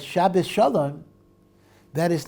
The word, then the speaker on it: Shabbos: In Yiddish, the accent happens to be on the first syllable, Shabbos, as opposed to Shabbos, right?